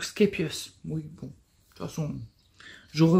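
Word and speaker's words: Scheepjes: le nom vous savez on dit scapius parce qu'en fait elle elle est belge je crois et elle parle le néerlandais le flamand donc skapius oui bon toute façon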